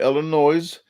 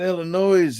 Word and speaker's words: Illinois: such I'm going to Illinois um and I'm trying to say Illinois as much as possible for the people that live in Illinois that say that's not Illinois it's Illinois so uh I lived in